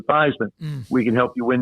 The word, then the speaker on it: Theismann: think by just simply changing the pronunciation of your last name from thieman to thyman we can help you